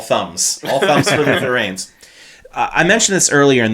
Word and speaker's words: Reigns: up with Luther Reigns they don't spell it r a i ns or anything no it's Reigns like he's going to reign in the WWE Kingdom right right and you